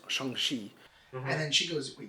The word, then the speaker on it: Shang-Chi: know she he's then explaining how to pronounce his name that his name is shangshi and then she goes